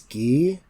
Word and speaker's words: Guy: that's Lee ghee Germain ghee or it's not guy it's ghee no it's pronounced ghee yeah that's how they said it in the